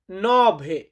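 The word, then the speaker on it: nove: এটাকে ইতালিয়ান ভাষাতে বলা হয় অত্য অত্য মানে হচ্ছে আট নয় নয় কে ইতালিয়ান ভাষাতে বলা হয় নভে ইতালিয়ান সংখ্যা নভে মানে হচ্ছে নয়।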